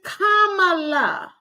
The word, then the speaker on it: Kamala: See, as intelligent as you are, and you are actor, singer, and philanthropist, and all of the above, you can't even pronounce her name right. It's Kamala.